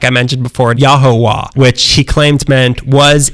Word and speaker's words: Yahuwah: baba booey other religions have claimed it's pronounced Yahweh or Jehovah as in Jehovah's Witness but in February 1974 father Yod claimed he had cracked the code and that he had found the true pronunciation and that was yahuwah ho the true name of God he claimed to mint